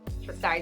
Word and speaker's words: Triscari: It's spelt really weird. It's like. Triscari is how you say it.